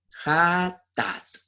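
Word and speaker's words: חטאת: Ahora, la palabra pecado en el hebreo, que es donde se escribió la Biblia en el original, se dice yatat, J-A-T-T-A-T, Jatat. Así se pronuncia la palabra pecado en el hebreo.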